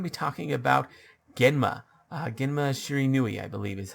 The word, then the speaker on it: Shiranui: Genma Shiranui, I believe is how you say his last name.